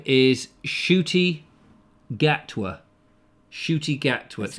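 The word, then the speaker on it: Ncuti Gatwa: was a slug i think his name is shooty gatwa shooty gat what's not how it's spelled that unfortunately mr monkey says that was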